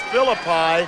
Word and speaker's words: Filippi: That goes against David Filippi, is that how it's said? It's Philippi. Philippi.